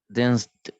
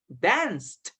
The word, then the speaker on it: danced: Now, Fernando, what is the pronunciation of, okay, a common verb, dance in past? Danced. Danced.